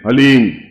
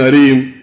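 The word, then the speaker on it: ह्लीं: वो बोले ओम हलीम, बस ये हलीम शब्द बहुत ध्यान से उच्चारण करने देना, HALEEM, हलीम। कोई बोले हरीम, कोई बोले हीम, तो कुछ फायदा नहीं होगा। हलीम, हलीम, ह आधा है।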